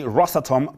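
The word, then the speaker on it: Rosatom: the russian mining company rossatom pronounced ross atom locally represented by its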